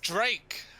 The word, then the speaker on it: Drake: my up, his name rhymes with lake. It's Drake.